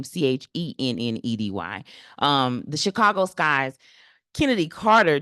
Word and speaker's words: Chennedy: Chicago Skies, Miss Carter, Kennedy Carter, excuse me. It's because the way it's spelled, CH. She spells her name Chennedy.